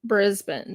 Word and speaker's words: Brisbane: and this was from Brisbane so I've been saying it wrong all along the old one was Platinum from brisban Brisbane Queensland this is just resin